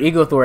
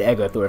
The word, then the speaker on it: Egothor: yep ego thor forest i i called it eagle thor at first but judith said echo thor so that's why i'm going to pronounce it from now on now okay one